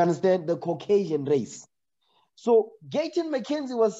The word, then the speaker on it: Gayton McKenzie: Is it Clayton McKenzie? So I don't pronounce his name wrong. What? Gayton. Gayton McKenzie.